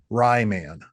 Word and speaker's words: Ryman: I called him Ryman, which is spelled like Ryman, like the Ryman Theater in Yeah.